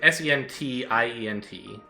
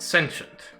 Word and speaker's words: sentient: kind of weird like the t goes soft and you don't really pronounce the vowels at all they just turn into a schwa um and that's fine